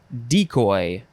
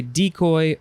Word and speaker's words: decoy: got two forms ooh decoy you could say decoy or decoy i've never heard it pronounced that way decoy first form noun